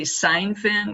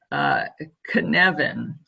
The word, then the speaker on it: Cynefin: So when I look at this model, I want to say Seinfeld because that's just how it looks to me. It's actually a Welsh word, and it's pronounced Cynefin, K-U-N-E-V-I-N.